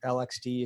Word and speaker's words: LXD: and um and uh Lex D or lxd if you pronounce it the way I do uh this is what